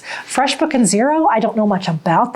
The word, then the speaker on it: Xero: There are a couple other ones, FreshBook and Xero, which is spelled with an X. FreshBook and Xero, I don't know much